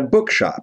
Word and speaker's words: bookshop: I Work in a Book Shop Я работаю в книжном магазине Book книга Shop магазин bookshop книжный магазин ударение на Book What do you do